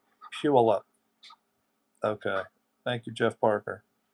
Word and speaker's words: Puyallup: It's pronounced Puyallup. Puyallup.